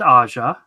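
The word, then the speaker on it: Aja: do this right David aha aha Xavier what is David aha it's the J is silent like Libra Mayo no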